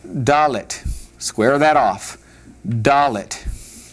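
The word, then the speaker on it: דלת: Doll it.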